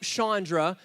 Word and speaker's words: Chandra: That's me and my wife, Chandra. It's spelled Shauna, but remember, it's Chandra, okay?